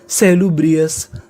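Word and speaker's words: salubrious: अगर आपको इंग्लिश में कभी ओयू एस लिखा मिले तो आपको ओ यूएस का उच्चारण करना होता है अस।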